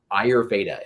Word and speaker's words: Ayurveda: I have always struggled to be able to pronounce ayurveda am I correct you are correct my friends